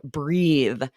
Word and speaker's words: breathe: then when an E is added, now it's a verb, breathe.